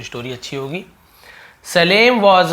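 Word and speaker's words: Salem: title है वह है सलेम एंड द पैग है ना सलेम बहुत सालेम भी बोल सकते हैं सलेम दोनों बोल सकते हैं क्योंकि स्पेलिंग दोनों का वही है लेकिन हम इसे सलेम बोलेंगे ठीक है सलेम ये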